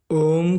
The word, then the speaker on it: ओम: आइए जानते हैं ओम की जप की शक्ति क्या है। ओम के उच्चारण से दीर्घ स्वर निकलता है। ओम का उच्चारण 3.5 मात्रा का होता है।